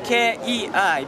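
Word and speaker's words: Kei: well uh Francisco yeah my name is k-e-i but you don't we pronounce it K yeah you don't mind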